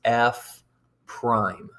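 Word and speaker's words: f′: the function f and it looks like f apostrophe but we're going to pronounce this f prime whose value at x is this f prime of x is equal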